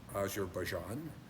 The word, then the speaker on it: Azerbaijan: I forget who corrected my pronunciation, which you should. It's Azar Bjan.